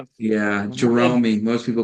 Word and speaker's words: Jeromy: That's the way it's spelled. I'm like, wait, I don't want to say it wrong. Yeah. Jeromy. Most people call me Jeremy.